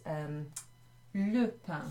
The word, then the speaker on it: le pain: If we were just saying bread on its own, it would be written as le pain. Let me write that. Le pain. Not lapin, which means rabbit, but le pain.